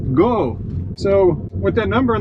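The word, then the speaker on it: 五: reminded while in Japan, the number five is pronounced go.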